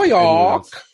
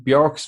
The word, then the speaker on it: Björk: I can't really link her to Björk. Yeah. That's actually nearly how you pronounce her name properly, I found out the last few days.